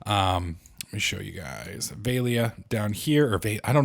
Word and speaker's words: Velia: Velia down here, or I don't know why I keep calling it Velia. Well, is it Velia? That may be actually the name of it. Vela.